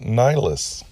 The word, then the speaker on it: Nylis: So she came up with her own spelling, Nylis, and pronounced it Nylis.